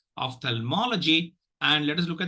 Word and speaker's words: ophthalmology: will encounter so of the first syllable gets the second reaction the third syllable gets the primary action Ophthalmology and let us look